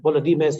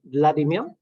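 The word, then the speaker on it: Volodymyr: That's the Volodymir's Ukrainian pronunciation. The Russian call him Vladimir.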